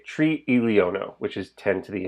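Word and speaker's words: triliono: long scale trillion is tree elio no note there are two eyes next to each other they're in separate syllables tree is the number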